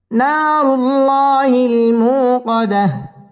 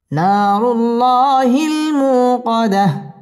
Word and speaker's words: نار الله الموقدة: الموقدة نار الله الموقدة না নুন আলিফ জবর না জবরের বাম পাশে খালি আলিফ মদের হরফ এক আলিফ টেনে পড়তে হবে না রু র পুর হবে না রুল আল্লাহ শব্দের লাম পুর হবে না রুল্লাহ খারা জবর এক আলিফ টেনে পড়তে হবে না রুল্লাহিল মু পেশের বাম পাশে জজম ওয়ালা ওয়াও মদের হরফ এক আলিফ টেনে পড়তে হবে কদাহ এখানে ওয়াকফ করতে হবে নারুল্লাহিল মুকাদাহ নারুল্লাহিল মুকাদাহ